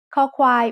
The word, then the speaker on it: คอควาย: คอควาย makes the sound k when it's the initial consonant in a syllable. It sounds like the letter K in kite or the C in cup. As a final consonant, คอควาย makes a K stop, a dead sound.